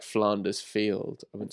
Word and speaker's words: Flanders: they were like, but how do you say Ned Flanders? I do interesting. you say Flanders? Flanders. Not Flanders. Ned No. Flanders would be mental. But you would say Flanders. Flanders, the place.